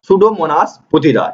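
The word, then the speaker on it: Pseudomonas putida: देखिए जीवाणु के बारे में पूछा जा रहा, तो वो जीवाणु आपका हो जाएगा सुडोमोनास पुथिदा, ठीक है, सुडोमोनास पुथिदा, यहाँ पर पी साइलेंट होता है, ठीक है, ये आपका बी उत्तर हो जाएगा।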